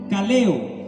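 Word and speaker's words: καλέω: versículo 30 esta palabra llamó se pronuncia caleo Cómo se pronuncia y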